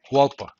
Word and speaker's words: Hualpa: Oh, you pronounce it like a Spanish speaker. Hualpa.